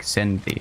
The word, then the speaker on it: SINTHE: It's spelled like Synthie. It's spelled pronounced Synth.